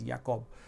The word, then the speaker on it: Jakob: The J is spelled as Y in humans, and again it is affecting the nervous system itself.